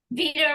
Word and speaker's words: Veda: when I introduce myself I say Vader rhymes with vegan yes is Vader the